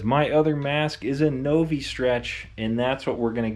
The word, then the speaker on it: Novistretch: everything from novi stretch i'm pretty sure that's how you pronounce it no v stretch i don't think it would be navi stretch that seems kind of weird so i believe it's novi stretch this is everything they